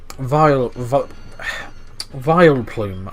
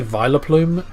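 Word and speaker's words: Vileplume: of the next episode vile plume i can never say it right i always used to say viola plume but obviously it's vile plume it has download that's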